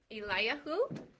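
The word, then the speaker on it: אליהו: And how did we say his name in Hebrew? Elijah. There was a couple ways, right? So, Eliyahu, right?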